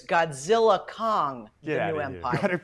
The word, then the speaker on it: Godzilla x Kong: These two titans team up, but the X is silent, according to Warner Brothers. So it's Godzilla Kong, Get the new empire.